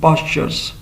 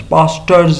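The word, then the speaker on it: pastures: घोड़े चरागाहों में चरेंगे, horse's will graze in पास्चर्स। अभी लफ्ज़ है पास्चर्स, पास्टर्स नहीं है, मतलब इसको टी नहीं पढ़ेंगे, उस तरह से प्रोनाउंस नहीं करेंगे। टी दिया हुआ है बट टी इज़ not pronounced.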